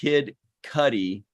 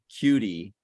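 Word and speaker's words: Kid Cudi: my orange joke and he says it's pronounced kid Cuddy not cutie it kind of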